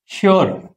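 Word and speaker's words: sure: ఎస్ ఎప్పుడైనా యూతో follow అయినప్పుడు shoe లాగా వస్తుంది ఆ సౌండ్. Example ష్యూర్.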